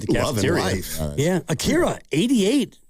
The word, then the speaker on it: Akira: Akira. Why don't you try to spell it? A K I R O. That's wrong. It's Akira.